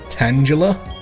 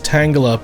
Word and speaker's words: Tangela: Tangela?